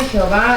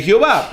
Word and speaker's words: Jehová: como el nombre de Jehová y la pronunciación Jehová es la combinación de las consonantes de H W con las vocales de Adonai como está en el texto mesoretico del Antiguo Testamento hebreo se conoce como ya